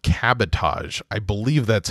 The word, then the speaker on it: cabotage: I've only read it, but it's spelled like sabotage, but with a C.